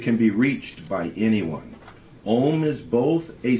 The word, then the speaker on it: Om: depth when pronounced correctly it is actually a home is four syllables this I learned a you m and the silent syllable the first syllable is